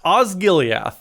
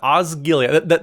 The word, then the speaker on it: Osgiliath: How's it pronounced? I don't know Lord of the Rings that well. What is Osgiliath is what we're looking at. Osgiliath.